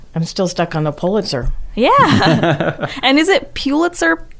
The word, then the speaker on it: Pulitzer: wow take your bits how what's pronounced sir pulitzer that's my guessing it's pulitzer it's actually pulitzer gosh okay i love